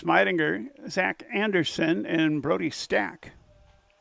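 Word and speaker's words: Stach: They'll send up to 6, 7, 8 hitters, Alex Meidinger, Zach Anderson, and Brody Stack. Spelled S-T-A-C-H, but the coach said it's pronounced Stack.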